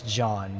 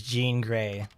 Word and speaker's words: Jean Grey: she's from america okay she's pronounced like the clothing because she's from america so she's just jean so she's jean grey but in the dark